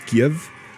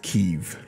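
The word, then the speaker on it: Kyiv: you pronounce that k a y i v keeve the russians pronounce it as give but it's pronounced kiev former world champion boxer and kickboxer their bodyguard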